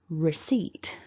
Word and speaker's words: receipt: for is receipt so looking at syllable one we've got the r r so you curl your tongue back for that and then the short e so repeat after me syllable two then we've got the s along the e and then the t so repeat after me seat seat so building that back together it's receipt receipt now hopefully you've noticed